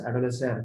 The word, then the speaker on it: adolescere: Okay, how it is to be pronounced as adolescere, which literally means, etymologically speaking, the meaning of that particular Latin word is to grow, okay, or to mature.